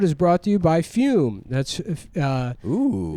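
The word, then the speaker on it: Füm: Today's episode is brought to you by Fume. That's Ooh. It's pronounced Fume, and that's Fume. F-U with an umlaut M.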